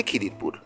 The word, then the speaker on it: খিজির: সেই থেকেই নাকি অঞ্চলটির নাম হয়ে যায় কিডারপুর, তা থেকে খিদিরপুর। এই অঞ্চলে দীর্ঘদিন ধরে ইসলাম ধর্মাবলম্বী মানুষের বসবাস। মুসলমানদের বিশ্বাস অনুযায়ী দরিয়ার পীরের নাম খ্বাজা খিজির। খিজির ফার্সি শব্দ। আরবি ভাষায় খিজিরের উচ্চারণ ভেদ খিদার।